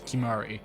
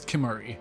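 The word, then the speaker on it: Kimahri: you should go too i'm noticing that only kimari pronounces that as kimari everyone else says kimori or cute kimari not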